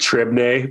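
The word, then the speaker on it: Trebnje: but beautiful Slovenia um a town called trebney but it's like t-r-e-b-n-j-e uh those like Slavic pronunciations got a lot of a lot of consonants in there um and um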